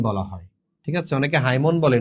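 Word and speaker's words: hymn: Lyric বলা হয় নাকি ওড বলা হয় নাকি হাইম নাকি ব্যালেড বলা হয় তাহলে রিলিজিয়াস এন্ড সক্রেড ইমোশন যেটা এটা হচ্ছে হাইম বলা হয়। ঠিক আছে? অনেকে হাইমন বলে নো।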